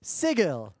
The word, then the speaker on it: Sigil: over the pronunciation of the canonical pronunciation which is stupid is sigil but it is written exactly the way you would write the word sigil as in the word sigil you know it's funny because